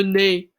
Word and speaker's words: nez: Le nez. Le nez, that Z at the end of the word is silent.